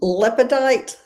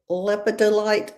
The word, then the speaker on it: lepidolite: I am saying this name wrong. It's got to be Cheryl, I'm assuming. Hey, Tina. Oh, that's lepidite. Lepidolite.